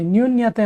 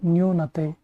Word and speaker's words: ನ್ಯೂನತೆ: ಸರಿಯಾದ ಶಬ್ದ ರೂಪವನ್ನು ಗುರುತಿಸಿ ನ್ಯೂನ್ಯತೆ ಅಂತಿದೆ ತುಂಬಾ ಸರಿ ನಾವು ಇದೇ ರೀತಿ ಇದನ್ನ ಉಚ್ಚಾರಣೆ ಮಾಡ್ತೀವಿ ಬಟ್ ಇದು ತಪ್ಪಾಗಿರುವಂತಹ ಒಂದು ಉಚ್ಚಾರಣೆಯಾಗಿದೆ ಹಾಗಾದ್ರೆ ಇದರ ಸರಿಯಾದ ಶಬ್ದ ರೂಪ ಯಾವುದು ಅಂತ ಕೇಳಿದ್ರೆ ಸರಿಯಾದ ಉತ್ತರ ಆಪ್ಷನ್ ಟು ನ್ಯೂನತೆ ನ್ಯೂನತೆ ಇವುಗಳಲ್ಲಿ ಭೂತಕಾಲ ಪ್ರತ್ಯಯ ಯಾವುದು